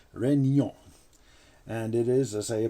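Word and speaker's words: Réunion: french french possession now the name of it looks like it says reunion but actually it's pronounced renyon and it is as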